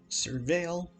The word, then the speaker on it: Surveil: Surveil is how you say it, and is what's going to be very helpful here.